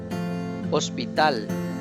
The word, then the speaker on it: hospital: yellow ice again starts with h but sound is silent hospital hospital let's repeat once again it's silent